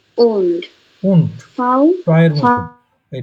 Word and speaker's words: und: উ উ und won't, Frau টয়ের মতন। এই data শেষে থাকলে টয়ের মতন উচ্চারণ হয়, উন্ট।